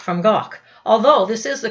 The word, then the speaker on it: Van Gogh: District of Germany Van Gogh was not from gawk although this is the correct pronunciation of his name more or less in